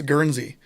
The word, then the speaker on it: Guernsey: gee ernsty i'm like anyone from the midwest who's drink who's had a glass of milk in their life knows how to pronounce guernsey and california's a big dairy state too guernsey should be an easy name but i've heard the